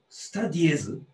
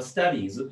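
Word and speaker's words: studies: スタディエズ？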